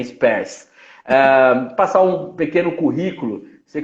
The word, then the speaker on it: Spers: Mas vamos ao nosso assunto aqui, professora Spers, está correto a pronúncia, né? Spers.